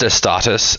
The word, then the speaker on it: Astartes: So it's pronounced Astartes, and it's a series of several short features by one guy.